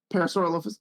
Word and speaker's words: Parasaurolophus: They're Parasaurolophus. Parasaurolophus.